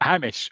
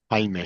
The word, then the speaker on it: Hamish: Hamish is not Hamish or Hamish. Hamish.